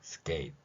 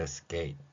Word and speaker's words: skate: 스케이트 이러지 않고 그냥 스케이트 마지막에 이 티읕이 받침 훈민정음에 뛰어난 표기 올리죠. 받침 표기는 명확한 소리는 아니지만 흘리는 소리로서 나올 때 그 역할을 한다는 것입니다. 따라서 이 발음을 skate 이런 식으로요. 이렇게 skate 마지막 티읕을 흘려주는 것이죠.